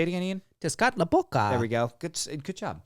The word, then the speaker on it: Tezcatlipoca: Tezcatlipoca. There we go. Good job. Thanks. It's a good thing I pronounced that right.